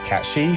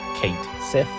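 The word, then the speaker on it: Cait Sith: It's also here that Katshi, whose name is pronounced wrong as Kate Sith, gives Cloud and Barrett a prediction.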